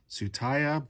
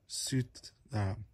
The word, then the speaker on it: Tsutaya: I would pronounce it as Tsutaya, but I believe the Japanese is Tsutaya. It's a weird roll of the tongue type of word.